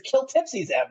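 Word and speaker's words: Kltpzyxm: is I know that the way you spell his name backwards and pronounce it is kill Tipsy them like I never thought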